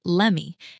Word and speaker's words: let me: She pronounced it as lemmy. Just like give me turns into gimme, the words let me turn into lemmy in fast casual speech.